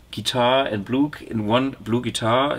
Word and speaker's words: BluGuitar: blue guitar a blue guitar how do you pronounce it what blue guitar blue guitar I'll take and how what a lucky coincidence